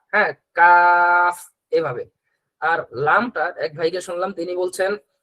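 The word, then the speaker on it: لام: হ্যাঁ, এরপরে লাম, লাম। জিহ্বার আগা দুই দাঁতের, উপরের দুই দাঁতের উপরের দুই দাঁতের গোড়ার সাথে লাগবে, একটু কিনারের দিকে লাগবে।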